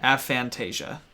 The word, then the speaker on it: aphantasia: Wait, aphantasia. Spell it. Fan as in phantom, tasia as in Anastasia. Oh, A-P-H-A-N? Yes, aphantasia.